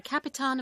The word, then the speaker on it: Capitan: the Christian God, the Capitan of the Black Ship. The word Capitan. It's the Portuguese pronunciation of the word captain, but rather than translating